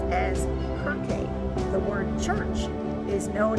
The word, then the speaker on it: Kirke: Circe was originally a Greek goddess whose name was written and pronounced as Kirke.